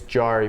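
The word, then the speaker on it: Jarry: realistic I also thought Jerry was your lord and savior it's jar please say it right for the love of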